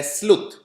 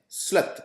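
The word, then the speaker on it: sleuth: स्लथ, इसे स्लथ या स्लुथ pronounce किया जाता है।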